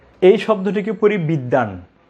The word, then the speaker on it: বিদ্বান: আপনি প্রথম শব্দে ব উচ্চারণ করেছেন, এই শব্দে ব উচ্চারণ করছেন না কেন? নিশ্চয়ই একটা নিয়ম রয়েছে। আমি বলি খুব সহজ নিয়মটি, যে যদি শব্দের মাঝখানে বা শেষে ব ফলা থাকে, তাহলে ব এর উচ্চারণ হবে না।